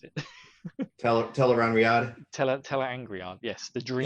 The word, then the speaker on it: Tel'aran'rhiod: I really want to try and pronounce it. Teleran Riyadh. Tel'aran'rhiod, yes, the dream. Teleran Riyadh.